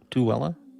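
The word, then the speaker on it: Tooele: Tuella. Tuella. Well, it's spelled differently.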